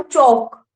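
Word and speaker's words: chalk: जैसे आपने पढ़ा होगा, कोई शब्द बताओ, शाक, ऐसे लिखते हो आप, है ना। इसकी प्रोनाउंसिएशन क्या होती है, पढ़ के बताना एक बार। जो ये बच्चे भाग रहे हैं ना, मेरे पास रिकॉर्ड है, ठीक है। इसे बोलते हैं हम चौक, चो ओ, ओ बोलते हैं ना।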